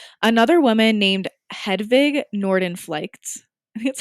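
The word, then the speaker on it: Hedvig Nordenflycht: know that's not true right another woman named hedwig norden flights that's how you pronounce it these are like all in another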